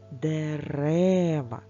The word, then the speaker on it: дерева: нас під питанням правда Ми поміняли слово і наголос у нас тепер перейшов саме в другий склад до другої букви е дерева тож поставимо Що про